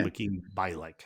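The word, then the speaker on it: Mayim Bialik: Makeen Bialik. If I don't think I'm pronouncing her name right.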